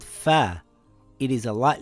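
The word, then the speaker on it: فاء: This letter is called fa. It is a light letter. Fa makes a similar sound in English to the letter F in the word fox or the word fish.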